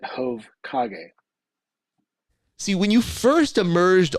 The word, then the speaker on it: Jovkage: head is hok and so I pronounce it HOV KAG see when you first